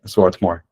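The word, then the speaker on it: Swarthmore: political science and economics and he was at Swartmore that is a liberal arts college. Sorry if I mispronounced the university though. Did I That's completely right. Sworthmore.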